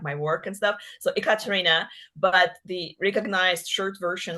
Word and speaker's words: Ekaterina: So my full name, my legal name is Ekaterina. So it's spelled with E, Ekaterina. So a lot of people make fun of me saying, "Oh, is it like e-commerce? Is it like e-business? Ekaterina?" Yeah, I know.